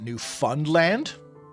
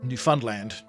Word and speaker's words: Newfoundland: pronounce it Newfoundland, but it's not Lond like like how the English would say it.